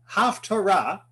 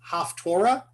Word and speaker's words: haftarah: pronounce it like it's haftorah that's a fine pronunciation it's a really more from eastern europe yiddish pronunciation but the word torah